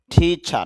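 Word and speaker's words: teacher: টিচার শিক্ষক, টিচার শেষে রটা অল্প সাউন্ড হবে আর কি।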